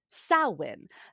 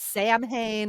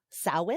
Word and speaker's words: Samhain: At first, I thought it was Samhain, and people are like, "Oh, no." And sow, like cow, in, I think is how I saw. Samhain?